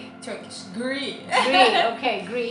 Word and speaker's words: gri: Gri. Turkish. Gri. Okay, gri. It's like a short form of green.